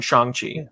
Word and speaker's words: Shang-Chi: pretty excited for it to be honest it's shang chi right shang chi pad you muted i think uh yes that was the chronic correct pronunciation shang chi uh how do you what how do you